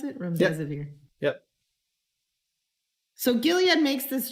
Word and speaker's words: Remdesivir: Is that how you pronounce it? Remdesivir.